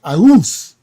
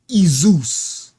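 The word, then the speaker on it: Ἰησοῦς: Ius. But you would be wrong. You know why? Because in the Greek, the letter I is pronounced E. Literally. So his name in the Greek was Izus.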